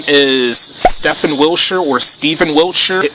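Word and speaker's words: Stephen: autistic his name is Stefan Wilshire or Steven Wilshire I consider it as Stefan you know the pH the pH part of his first name f the F sound yeah Stefan wilcher but I really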